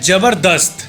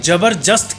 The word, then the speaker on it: जबरदस्त: बन चुका है जैसे एक वर्ड है जबरदस्त जिसको कई लोग जबरजस्त कहते हैं होता नहीं अरे जबरदस्त यार ऐसे कह देते हैं